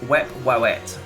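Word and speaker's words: Wepwawet: Okay, so I just want to announce now, this is pronounced Wep-Wawet.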